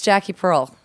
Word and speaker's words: Jacqui Pirl: So it's Jacqui Pirl. Cool. Yeah. But it's spelled Jacqui. And then Pearl is Pirl.